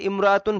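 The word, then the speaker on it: امرأة: ফাকিরাতুন, এখানে মাওসুফ সিফাত ইমরাআতুন ফাকিরাতুন, এই শব্দ দুইটা মাওসুফ সিফাত, কিন্তু ওই যে মিলিয়ে পড়ার কারণে ইমরাআতুন শব্দের আগের এই কোনো শব্দ থাকলে আলিফটা উচ্চারণে আসবে না, এজন্য এখানে উচ্চারণটা এরকম হবে, রায়হানাতুম রাআতুন ফাকিরাতুন।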